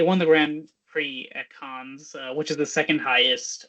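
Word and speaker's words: Cannes: the Grand Prix at is it cans or k how do you say it I mean I say KH but you know yeah I heard both I'll say k okay yeah so it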